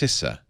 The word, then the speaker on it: CISA: They just completed, I think it's pronounced CISA, C-I-S-A.